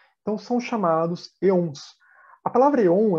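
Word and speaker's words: aeons: Se escreve com esse A aqui, mas a pronúncia mais próxima seria um E, porque isso vem do grego, aquele A que é bem junto de um E.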